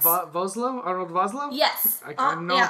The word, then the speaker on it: Vosloo: Arnold Vosloo? Yes. I know I'm pronouncing Arnold Vosloo.